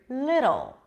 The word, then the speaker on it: little: As in the word little.